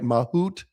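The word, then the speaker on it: mahout: Is it is am I pronouncing this right? Mahoot which is Mahoot.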